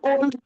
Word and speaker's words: would: Can, could, shall, should, will, would, may, might. Can cooled কি জিনিস? Shall শুল্ড কি জিনিস? হ্যাঁ, শুড হবে, শুড, কুড, would, l won't be pronounced.